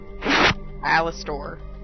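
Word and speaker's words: Alastor: okay uh is it night stallion it's it's alistair oh cute uh it's just one l yeah a-l-a-s-t-o-r a stallion of sticks wait what okay spell it again a-l-a-s-t-o-r alistor it's the name of the horse one of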